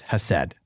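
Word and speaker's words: חסד: She says it's pronounced Hesed.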